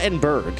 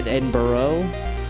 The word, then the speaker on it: Edinburgh: Is it Edinburgh? Kind of got to go Edinburgh. It's not Edinburgh. That's just outright wrong. But I would say Edinburgh, which is too hard on the burrow. Edinburgh.